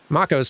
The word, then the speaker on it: Mako: Zuko's kind of weird, and Mako's pretty quiet. It's probably Mako, actually. Like the shark.